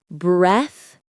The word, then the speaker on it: breathtaking: Breathtaking. The stress is right at the beginning. Breathtaking. Make sure you get that sound at the end of breath. It's a soft sound like in three.